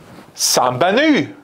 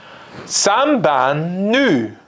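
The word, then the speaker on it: Сайн байна уу: Well, it's Sambanu.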